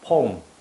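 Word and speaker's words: poem: 요걸 읽을 때 제발 포엠이라고 읽지 말아 주세요. 포 아니에요. 포 아니고 폼 폼 요렇게 폼 요렇게 읽습니다.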